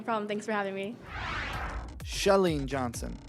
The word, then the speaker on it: Chalene Johnson: so much no problem thanks for having me shellene Johnson not chalene johnson don't get it twisted she leans husband made